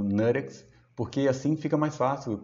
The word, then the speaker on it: NuttX: o termo em inglês a pronúncia em inglês no caso falando next Porque assim fica mais